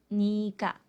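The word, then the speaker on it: 네가: así que tú se escribe niega pero se pronuncia nica tú o en este caso nica es la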